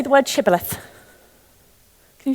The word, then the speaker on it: shibboleth: They could only say it as Sibboleth.